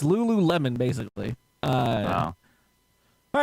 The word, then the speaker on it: Lululemon: Who wants to spell it? I mean, Panda answered it. Panda. Panda. Lulumon. Close. There's more in there, but yeah, no. It's Lululemon, basically.